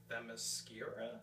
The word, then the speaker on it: Themyscira: There is one action scene on the beaches of Themyscira. Did I pronounce that right?